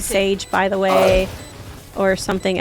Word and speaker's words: Seyg: like my name so it's pronounced sage but i spell it weird because i know that